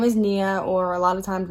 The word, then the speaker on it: Niah: i really don't care as long as people don't pronounce my name it honestly it really